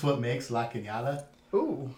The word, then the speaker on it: La Cañada: It's what makes La Cañada Ooh. La Canada. So it's actually called a tilde. And then whenever you put it on top of the N, that is called an enye.